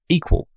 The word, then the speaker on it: EQL: CEO and co-founder of equal that's eql pronounced equal Andrew is a former